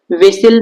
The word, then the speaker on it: whistle: विशिल में कौन सा वर्ड साइलेंट है? तो इसे हम पढ़ते हैं तो विशिल पढ़ते हैं, विशिल।